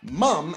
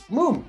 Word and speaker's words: Mumm: the pronunciation of it it's not mum as you would think m-u-m-m that's the way us americans would pronounce it it's moom actually but yes this